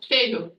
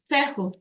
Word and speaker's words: Fehu: It's a hard F noise, like fee, fi, fo, fo. And it's, how do you pronounce it? Feo. Fehu, Fehu.